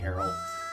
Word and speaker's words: Aryll: Oh yeah, seagulls like Errol, which is this character's name. Owl. Like the owl? Kinda. Arylll, I think is how it's spelled. Oh. But it's pronounced pretty similar.